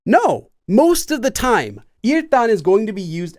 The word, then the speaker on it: 일단: Notice the pronunciation. It's not 일단. It's 일단 because of sound change rules, because of this letter.